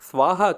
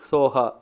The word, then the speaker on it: சோஹா: இந்த மந்திரத்தில் கடைசி வார்த்தை பார்த்தீங்கன்னா ஸ்வாஹா கிடையாது, சோஹா.